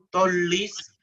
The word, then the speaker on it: tollis: Agnus Dei qui tollis, tollis, este siempre es separado, así, no como llama en español, sino como vita bella en italiano, tollis, agnus Dei qui tollis, peccata mundi.